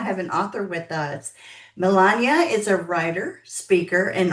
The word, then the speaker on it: Melania: know a lot of people know the name Melania, but yeah, the way that I've always pronounced it is Melania.